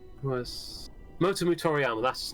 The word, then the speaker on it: Motomu: It's the director on the game is Momoto Toriyama. Momoto Toriyama. I always get his name wrong. Was Motomu Toriyama, that's his name.